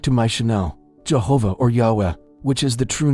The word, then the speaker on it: Yahweh: This name, along with its pronunciation, Yahweh, can be found in the book of Exodus, chapter 3 verse 14.